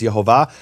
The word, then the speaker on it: Yehovah: But once I asked the question, I was able to find a rabbi within 30 seconds who unequivocally said the name was Yehovah.